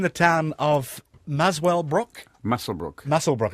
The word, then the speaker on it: Muswellbrook: Muswellbrook it's pronounced, is it?